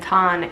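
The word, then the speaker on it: ちゃん: University of Nevada and Thanh is like Sean if you hear people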